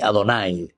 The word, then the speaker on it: Adonay: Lifnei Adonay se pronuncia en realidad se escribe Yahvé y Jeha. Pero la pronunciación que ellos les daban siempre era Adonay.